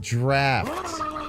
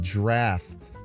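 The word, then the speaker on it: draught: It's pronounced draft. It's pronounced draft. Ah, okay. Okay. Okay. Uh, the fact that they would spell a word d r a u g ht and have the f sound uh kind of infuriates me.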